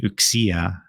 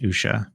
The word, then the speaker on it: Uxia: And I did learn from CB, from Coney, Carlos, and Max that it is pronounced Uxia, not Usha. And so I've Oh.